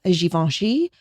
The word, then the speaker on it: Givenchy: The French, I can't even pronounce pronunciation. Anyway, Hermes is the correct way to say that. Givenchy is Givenchy. Givenchy.